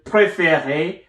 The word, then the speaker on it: préférée: The same way will happen to préféré, which is pronounced the same way as our first préféré, but it has another E.